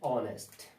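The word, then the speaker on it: honest: अब आप देख रहे हैं लिखा है ऑनेस्ट, लेकिन जो ये स्टार्ट है वर्ड वो कॉन्सोनेंट से स्टार्ट है, लेकिन हमने किस पे जाना है, साउंड पे। यदि साउंड जब हम इसका प्रोनाउंस करेंगे इसको, तो हम यदि वॉवल साउंड पाते हैं तो उससे पहले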